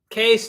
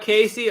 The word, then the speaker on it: Case: Case, not Casey. Okay, I wasn't sure. Just Case. Like pronounce it like C-A-S-E, Case.